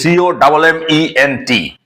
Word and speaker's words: comment: have told you that the French people do not pronounce the last letter of a word. For example, comment vous appelez-vous? It's a French sentence, comment vous appelez-vous? That means simple. The meaning is, what is your name? Comment vous appelez-vous? Now see, comment, the spelling of this word is C-O-M-M-E-N-T, though the pronunciation is comment.